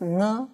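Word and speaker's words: 呢: simple question in reply we will pronounce no with a light tone so the full dialogue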